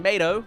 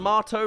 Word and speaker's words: Mato: Mater and Mato, like Tomato (I disagree with that pronunciation) go on to a series of competitions.